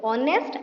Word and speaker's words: honest: ओ रो pronunciation करूछु ऑनेस्ट आउ आवर एठी सेमति एच T silent अच्छी।